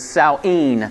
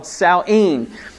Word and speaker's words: Samhain: you pronounce it is saueen sounds very close to halloween okay but it was called saueen and so again they